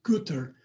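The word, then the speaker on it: Goethe: This is from Goth. I've actually heard it's pronounced Guter, but I'm just going to keep calling it Goth because I don't think people know what Guter means in German.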